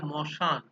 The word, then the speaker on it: শ্মশান: এবারে আদিতে, আদি ব্যঞ্জন ধ্বনি লোপ খুব একটা পাওয়া যায় না, তবে ওই যেটা থাকে যে শ্মশান, এটাকে উচ্চারণ করা হয় মশান।